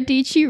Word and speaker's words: Dietschy: John Hill here with Sara DG rhymes with PG oh heck yeah we